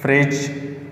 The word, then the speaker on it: fridge: इसमें डी और ई बिल्कुल भी प्रोनाउंसिएशन में ये हम इसकी वॉइस नहीं निकाल सकते। अब ये वर्ड्स में अगर मैं एग्जांपल दे देता हूँ, for example ब्रिज, BRIGE, ब्रिज, एंड FRIDGE, या एक मशहूर एग्जांपल है नॉलेज। इसमें भी DGE, इसमें भी DGE। तो इसकी सिर्फ आवाज़ निकलेंगे जी का।